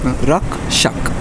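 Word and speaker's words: Rakshak: So I want to talk a little bit about it's Rack Shack, right? Rock Shack. How do I say it right? It's Oh, you were almost there. yeah, almost there, but it's Rak Shak.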